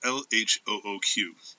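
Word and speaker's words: L.H.O.O.Q.: or found object is lh0 hues which is a pun the letters pronounced in French sound like shod Akula which means she is hot in the arse in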